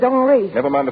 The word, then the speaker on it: Henri: This is Henry. He pronounces it Henri.